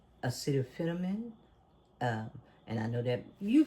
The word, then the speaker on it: acetaminophen: But that's a kind of, when you heard him say acetaminophen, and I know that you pronounce acetaminophen.